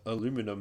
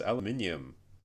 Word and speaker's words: aluminium: Yeah, yeah, like it's it's not aluminum, it's aluminium. There's an I before that U, before the M. Like it's spelled ALUMINIUM, but everyone says aluminum.